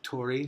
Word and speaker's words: torii: some people say torii some people say there there's the beat sound in Japanese which is it looks like our RI but it actually sometimes sounds like an L sometimes a D and a little bit like an R so you'll hear it pronounced like told eat told E or